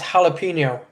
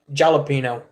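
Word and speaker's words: jalapeño: There is no J in the Spanish alphabet. That's why it's jalapeno not jalapeno.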